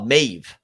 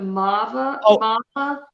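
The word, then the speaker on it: Maarva: her name would pronounce marba it's an extended a like it's like it's it's almost like you don't hear completely the r in it but it's supposed to be like a mava okay depending on who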